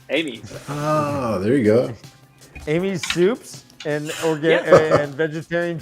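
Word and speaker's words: Amys: amos how do you pronounce how do you pronounce this a-n-y-s steamies no amy's that's how i say it okay amy's that's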